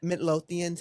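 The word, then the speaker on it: Midlothian: Midlotheian, Texas.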